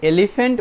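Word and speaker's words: elephant: তাহলে এলিফ্যান্ট বলার সময় ইটা আমরা কিছুটা জোরে বলবো, এলিফ্যান্ট এলিফ্যান্ট অর্থাৎ ইটা আমরা জোরে বলবো।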